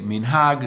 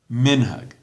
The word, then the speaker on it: minhag: say Shabbat, and you say minhag, Siddur, emphasis on the last syllable. In Ashkenazi pronunciation, Shabbos, minhag, Siddur, mitzvah, on the second last syllable. That's one difference between the Ashkenazi and the Sephardi. The emphasis on the last syllable for Sephardi and the second last syllable for Ashkenazi.